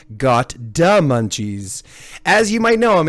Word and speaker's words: gotdamunchies: the one and only got the munchies pardon me let me pronounce that so I can get the D properly got D Munchies as you might know